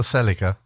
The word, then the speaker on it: Celica: the oh, hang on, it's the Celica. The what? Can you spell that? Celica, not the Celica. The Oh, Celica.